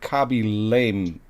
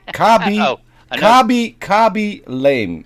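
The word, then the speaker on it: Khaby Lame: Kabi Lame. It is spelled Khaby, and his last name is Lame, as in Lame.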